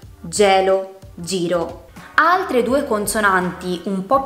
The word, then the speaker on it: giro: Se la H non ci fosse, la G andrebbe pronunciata con un suono dolce, seguita dalle vocali E oppure I. Per esempio, gelato o giro.